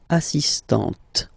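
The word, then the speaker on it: assistante: So don't pronounce the final T here but for the feminine form assistant.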